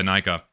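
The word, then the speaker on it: Inika: He had one Paraka, a couple of Vizarak, and um two of the Toa Anika or Enika, however you want to pronounce it.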